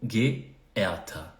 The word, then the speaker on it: geehrter: Aqui essa palavra parece complicada na pronúncia, mas você vai dividir em 3 momentos. Ge. Então, primeiro GE aqui fica G. Depois tem E, onde tem EHR fica E. E o TER fica Ta. Então, geehrter.